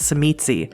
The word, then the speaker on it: Tzimisce: Levash gives Ray a way to contact him, and on his way out, Ray turns to Julia and tells her it's pronounced Tzimisce, before heading back to Drexler, still waiting in the cab.